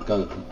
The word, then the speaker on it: golem: No, that's where I went to get the golem, which is definitely not pronounced Gollum.